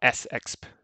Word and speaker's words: sexp: so yeah i use i use vimsexp for that or s exp is how it should be pronounced not very catchy but